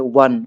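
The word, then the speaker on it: one: अब इसमें ए एन दी बैठाना, देखो साउंड उच्चारण पहला करो, डेस्क के बाद जो पहला वर्ड है वन, वन बोलते हो तो डब्ल्यू का उच्चारण आता है, आप अच्छे से देखोगे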